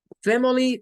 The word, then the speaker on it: family: Family sí tiene un schwa cuando lo vemos como en tres sílabas. Fem, F-A-M es la sílaba tónica. Fem, el schwa queda solo, y luego queda li. Family, tendría tres sílabas tónicas. Family, fem, li. No es family, no, es family.